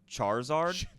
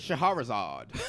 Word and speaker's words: Charizard: Charizard. Okay, cool. My mom calls it Shaharizard.